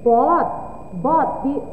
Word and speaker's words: bought: Bot. Bacanya bot, B-O-T, bot.